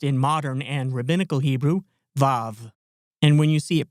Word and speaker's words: vav: The section we're interested in here is the section corresponding to the letter wa, or as it's pronounced in modern and rabbinical Hebrew, vav.